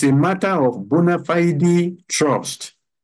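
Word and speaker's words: bona fide: it's a matter of bonafide trust it's a matter of bonafide trust I know some people will pronounce it as bonafied but it is Bonafide it's a matter of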